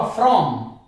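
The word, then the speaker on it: from: जैसे यहां पे मैं उदाहरण ले लेता हूं, अब देखिए आर के बाद ओ आया हुआ है, ओ की साउंड आ रही है तो आर का उच्चारण होगा फ्रॉम, फ्रॉम। लेकिन इसके जैसा एक शब्द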